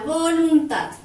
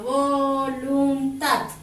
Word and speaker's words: voluntad: Si se fijan, al separar en sílabas tenemos, por ejemplo, voluntad, ¿sí? Voluntad, se carga la voz aquí, pero no lleva acento ortográfico porque termina en D.